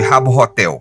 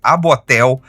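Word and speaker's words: Habbo Hotel: é uma espécie de Rabo Hotel, que inclusive eu acho incrível que a gente pronuncia o H soprando o H, né? E Rabo Hotel porra, muito grande. Abotel também funciona, também é engraçado.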